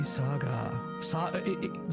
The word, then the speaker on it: SaGa: Makai Toushi SaGa. Did you guys actually know it's pronounced Saga?